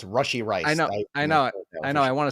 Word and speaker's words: Rashee Rice: I had to Justin Ross the other day because I said it wrong. It's Rashee Rice.